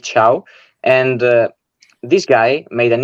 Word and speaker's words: Thiaw: We understood it's pronounced Malik Thiaw.